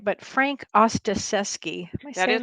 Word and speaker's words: Ostaseski: going to say his name right but frank ostaseski that is correct that is correct i butcher everything really no i had to pronounce it several times thinking i was going